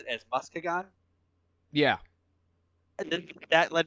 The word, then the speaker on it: Muskegon: both of those okay now i know that moscagon is wrong so i'm going to say muskegon and yes colin very